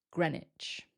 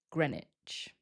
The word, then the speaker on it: Greenwich: If you remember, it doesn't sound like Greenwich. The first syllable sounds like Gren, and then we don't pronounce the W. So it sounds like Greenwich, Greenwich, or sometimes Greenwich, Greenwich.